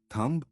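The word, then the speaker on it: thumb: Silent B pattern डंब थंब bomb climb lamp MB pattern may be silent.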